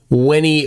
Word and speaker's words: Veni: I will pronounce it as my Latin teacher instructed me in high school. Weni Witty Flurfy.